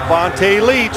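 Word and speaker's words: Vonta Leach: Vonte Leech.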